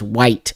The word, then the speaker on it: Wight: Um Oh, is Isle of Wight is produced pronounced white.